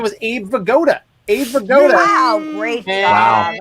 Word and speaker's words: Vigoda: But his name was Abe Vigoda. Abe Vigoda. Wow, great job. And Great job, Abe Travis. Vigoda rhymes with Yoda.